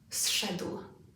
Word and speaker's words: zszedł: This is one syllable. Listen. Zszedł. Zszedł. What happens? Which of these consonant sounds changes? The correct answer is z. It's no longer a z, it's now a s.